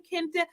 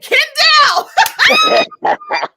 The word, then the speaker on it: Kendall: She was like, how do you say your name, Kende? And Ronnie said, Kendall.